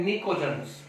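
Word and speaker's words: pnictogens: इसका दूसरा नेम भी है निकोजन्स, पी साइलेंट है, निकोजन हम इसको बोल देंगे।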